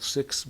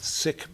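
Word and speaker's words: Sick's: to pronounce his name so it was called sixth beer not sick beer here in montana we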